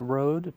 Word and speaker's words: Rhodes: ever heard of a Rhodes Scholar before I've heard that term but please do elaborate yes so it's pronounced Road but it's spelled differently are OAD so and